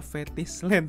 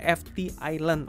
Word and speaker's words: FTISLAND: Malah Fetish Land teman-teman ya. Salah ya. Jadi yang benar itu adalah FT Island.